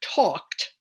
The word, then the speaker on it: talked: fourth the third example the word talked that L is silent and it's there to